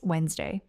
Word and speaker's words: Wednesday: Notice how in fast, natural speech, it really does sound like just 2 syllables. Wednesday. Wednesday. You don't need to hold on to all those middle letters. Let them go. That is actually what native speakers do.